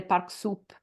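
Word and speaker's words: Parcoursup: French diploma there is the park soup I think is the right pronunciation yeah yeah sorry platform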